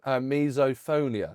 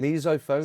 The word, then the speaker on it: misophonia: Misoponia. Is that pronounced correct? That is. That is misophonia.